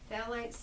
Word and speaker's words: phthalates: is plastics plastics will put up phthalates and that's spelled p-h-t-a-l-a-t-e-s phallites that leech out of plastics and i don't